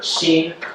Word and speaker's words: xin: Uh there's that word keen. Um you can pronounce this word like we pronounce uh the name of the American poet and philosopher Charlie Sheen.